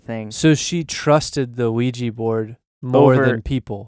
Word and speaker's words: Ouija: Second of all, start the sound with a W. Yeah. Which I think that's not even like the proper pronunciation.